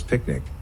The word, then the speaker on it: PQNK: the process is named pqn K pronounced as picnic which stands for Peter tra